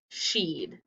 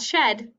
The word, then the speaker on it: she'd: in the apostrophe and how do you say it sheed not shed sheed she'd like a sip